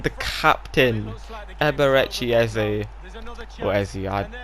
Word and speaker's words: Eze: The captain, Eberechi Eze, or Eze. I think it's Eze. I've heard people say it like that, so I think that's how you pronounce it.